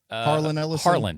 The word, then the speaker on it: Harlan Ellison: Harlan Ellison.